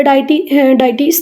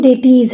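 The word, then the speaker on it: deities: तो ये popular डाइटीज़ थे। दुर्गा, काली, लक्ष्मी, पार्वती ये फीमेल डाइटीज़ थी। बेटा करेक्ट प्रोनाउंसिएशन डेटीज़ है ना।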